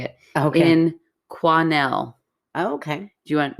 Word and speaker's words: Quesnel: In Quesnel. Oh, okay. Do you want me to tell you how it's spelled? Sure. Quesnel.